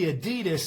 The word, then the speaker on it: Adidas: Actually Adidas is pronounced adidas.